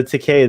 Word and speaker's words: Takei: need to say gay you can say to k oh that's awesome so to k that's how you remember how to say his name oh that's a good